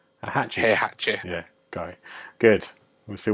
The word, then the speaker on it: Heihachi: Heihachi.